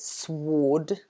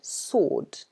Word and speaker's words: sword: sword very good so here we have another word with a silent letter and that's the w so we don't pronounce it sword we say sword or okay so if